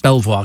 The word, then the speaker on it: Belvoir: um about uh uh it's pronounced Belvoir Castle thank you I always